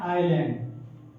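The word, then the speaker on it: island: अच्छी तरह से देखो एस कहां साइलेंट होता है अगर किसी स्पेलिंग में एस दो लेटर आई और एल के बीच में आता है तो वहां पर एस का उच्चारण नहीं किया जाता देखो फॉर एग्जांपल दो बच्चे इसे गलत पढ़ते हैं तो क्या इलैट पढ़ते हैं तो लैंड लिखा क्या लिखा है आईलैंड क्या लिखा है आईलैंड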